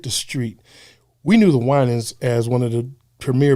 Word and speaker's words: Winans: And I was coming home and I heard on the radio, they said the Winans. And the guy mispronounced, he called the Winings.